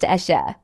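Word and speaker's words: Asa: At number 3 on our list of the richest female musicians in Nigeria is the legendary Ayra, pronounced Esha, known for her soulful voice, poetic songwriting, and timeless music.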